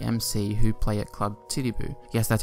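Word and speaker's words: Titiboo: band called DC MC who play at club titty boo yes that's how it's pronounced for the factory workers it's said that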